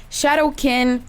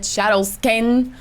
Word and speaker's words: Shadowkin: So we have Shadowkin. One time in a video I said Shadowskin. Okay, it's Shadowkin. My mistake.